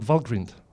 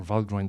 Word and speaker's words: Valgrind: You have very likely have heard about Valgrind, or Valgrind, depending how you pronounce it.